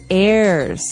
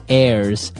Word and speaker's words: heirs: pod, and to his heirs. This is our next word. What is an heir? Now, if you notice, the h is silent there. So his heirs and that th those